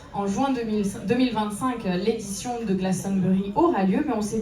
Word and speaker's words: Glastonbury: Alors surtout avec un accent français, on dirait peut-être Glastonbury, mais donc on a la bonne prononciation juste ici avec une voix anglaise. Glastonbury. Glastonbury.